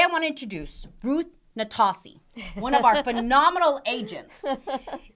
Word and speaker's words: Nastasi: You're the only one that I let mispronounce my last name. Say it correctly. Nastasi. Nastasi.